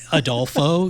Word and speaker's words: Adolfo: Adolfo, it's a 3-syllable name.